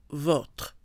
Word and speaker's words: votre: So O with the accent is pronounced O, les vôtres. Without the accent, O is more open, E, votre.